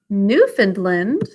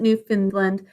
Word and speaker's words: Newfoundland: Specifically, this area called Newfoundland, which we pronounce we pronounce it Newfoundland, but it looks like Newfound land, as in it was newly found land.